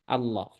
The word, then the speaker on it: Allah: Ya, contoh yang diidgamkan ini ya yang sering kita temui tentu yang pertama adalah lafaz Allah. Lafaz apa? Allah. Kemudian yang kedua, selain lafaz Allah ya Allahumma sama aja